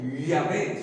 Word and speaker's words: Yahvé: Imposible era de pronunciar el nombre de Jehová, no se podía. Yahvé, su nombre original, Yahvé, pero no se puede.